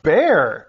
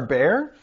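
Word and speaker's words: Bexar: I see Comal and bear wow spelled b-e-x-a-r bear huh on page 16 there's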